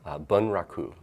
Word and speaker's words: bunraku: I worked in a Japanese puppet style called bunraku, and it took 3 puppets, or 3 puppeteers to operate 1 I puppet. know, how was that pronounced again? Bunraku.